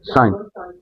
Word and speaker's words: sinh: sinh. This is sinh X. This is a hyperbolic hyperbolic function. So, for hyperbolic function, this is pronounced as sinh.